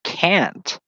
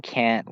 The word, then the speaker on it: Kant: And, it's pronounced Kant. Pronounced Kant, by the way, not Kant. Immanuel Kant. It's Kant because it sounds similar to Kent in that context.